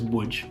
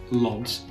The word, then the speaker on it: Łódź: let me see um you will know it as wood even though a lot of people would pronounce it LS if they don't understand